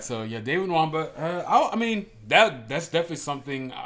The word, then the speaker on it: Nwamba: Nwamba. That's how you pronounce his name, because I think he is Nigerian, which I am too.